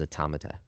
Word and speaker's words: automata: The proper way to say it is automata.